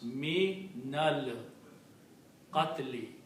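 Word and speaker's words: مِنَ الْقَتْلِ: So what we do? We change one letter on noon to a fatha. Now sound is easy to pronounce. Me nal qatli.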